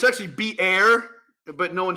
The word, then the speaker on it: Beer: that is why the well uh was called beer High Roy yeah uh it's actually be air but no one says that it looks like